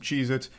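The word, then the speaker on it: Cheez-It: Cheezits, and I'm still saying it wrong. Cheeits never existed. They have always been CheezIt, not plural.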